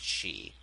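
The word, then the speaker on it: Sidhe: myths names that and it was spelled like 50 different ways but it was always pronounced she so yeah a false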